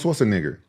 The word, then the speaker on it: Schwarzenegger: Arnold Schwarzenegger.